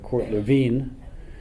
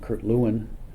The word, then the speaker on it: Lewin: His name in German is Kurt Lewin. Typically Americans know him in the anglicized version of Kurt Lewin.